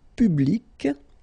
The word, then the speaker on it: public: Public. So you can see that you get this final C and then you pronounce it, public.